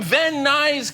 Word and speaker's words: Van Nuys: You're from Van Nuys, California.